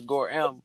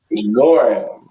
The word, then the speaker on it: Gorham: Everybody mix it up. It's Gorham. People be saying him, but the H is silent. Gorham.